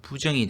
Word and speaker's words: 부정: 또 이 글자는 아닐 부로도 발음됩니다. 디귿이나 지읒 뒤에 오면은 부로 소리 납니다. 디귿이 오면은 앞에 부가 됩니다. 그래서 부동, 지읒이 왔죠. 그래서 부정이 되겠습니다.